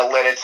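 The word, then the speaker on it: Lititz: I don't really know how to pronounce the name of the town. It's Lidditz? It's Lidditz, yep.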